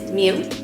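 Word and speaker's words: 미음: the next consonant is mu this is pronounced m and it sounds like the letter m the way you can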